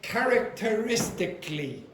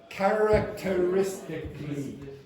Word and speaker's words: characteristically: Now, notice, by the way, I should say as well, this doesn't really show it, but usually this sound here, see here, this disappears completely. So, what you generally get is one syllable here, not two.